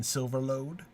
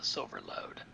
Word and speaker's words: Silverlode: If they don't do their O's quite like that, and so this is already being like, remember, folks, you're supposed to pronounce it like O, not like aw or or aw or whatever, however else it might be.